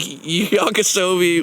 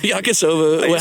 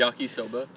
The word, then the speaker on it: yakisoba: And it And it literally was just like Yakasobi with ketchup on it. Like old Yakasoba. I think I said I know. I mixed like Soie the drink. I think you said yakisobi. Yakisoba.